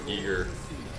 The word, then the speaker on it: Giger: to the casino someone in the comment said Giger is the correct how do how do you spell it g i e g e e r then it is Giger Giger HR Giger okay AR MAA seen mint